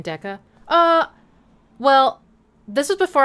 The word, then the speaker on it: Decca: Deca and and I was going to spell it with one C but then I thought people might might possibly read it as Dika which isn't bad but it didn't feel right. So I put two C's and that's kind of